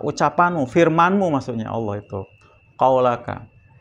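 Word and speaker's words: قولك: Apa qaulaka, Pak? Ucapanmu, firmanmu, maksudnya Allah itu. Qaulaka. Dikasih harokat tuh, Pak. Qaulaka, jangan sampai salah bacanya.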